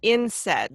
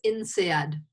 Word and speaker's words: INSEAD: And you said it's instead, like instead, but without the T. No, it's INSEAD.